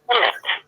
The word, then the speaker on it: Pemmett: Pemmett. Now tell me, am I pronouncing it correctly? Yes. Pemmett.